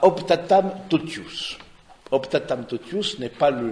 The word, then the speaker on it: Optatam totius: Et donc, au Optatam totius, c'est comme ça se prononce, le latin c'est très facile de ce point de vue-là, Optatam totius, et donc du coup, et c'est au numéro 11.